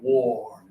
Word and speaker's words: wore: Okay, wore. So, put up one finger. Everybody touch your nose and your lip. Pull them down. Oh, wore.